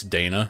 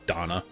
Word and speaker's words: Dana: to God if it's Dana that'd be funny as or I'm sorry Donna I keep forgetting that's how they pronounce it anyway back to what